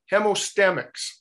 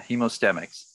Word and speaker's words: Hemostemix: hemostamics good afternoon peter i always get that name wrong hemostamics yeah hemostemics thank you trade it